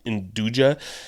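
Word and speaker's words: 'nduja: I made this with uh chickpeas and indua. Induia is like um kind of a it's spelled like apostrophe n dja if you've ever seen it like induja.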